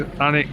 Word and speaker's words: Alnwick: This one is Alnwick Castle.